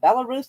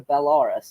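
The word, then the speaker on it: Belarus: of a tomato tomato is it bellarus or bellaris like I think it's bellarus allarus amasses a military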